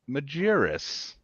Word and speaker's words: Majerus: revolver I never asked you how to pronounce your last name Majerus that's perfect example of of of pronouncing not